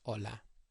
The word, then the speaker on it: hola: The first one is H, as in hola. H does not make a sound in Spanish. It's silent.